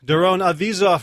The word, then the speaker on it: Doron Avizov: Doron Avizov rhymes with Keep the Cheese Off.